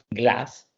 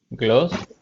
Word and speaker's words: glass: Pero se dan cuenta, mire, fíjense, no solamente la vocal corta, fíjense qué tan larga hace la S.